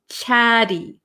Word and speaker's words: chatty: take these T's and we're going to make them a flap te chatty chatty chatty so it's going to sound like a kind of soft D sound chatty chatty okay grumpy